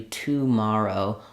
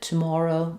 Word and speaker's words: tomorrow: tomorrow or tomorrow um this middle vowel is a little different in different dialects of English in British English it might be a little bit tomorrow Mo Morrow they have a slightly different rounding vowel there in American English a nice open unrounded vowel Tom tomorrow um and